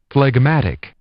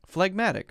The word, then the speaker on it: phlegmatic: phlegmatic is that that's what it looks like plagmatic phlegmatic okay not easily excited to action or display